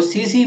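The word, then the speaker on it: tsetse: नाम आपने सुना होगा इसको सीसी मक्खी बोलते हैं ठीक है ये टी आपका सेलेंट रहेगा यहां पर सी सी मक्खी दोनों तरफ टी साइलेंट रहेगा आप टी प्रोनाउंस नहीं करेंगे केवल सीसी मक्खी बोलेंगे ठीक है न्यूनतम ताप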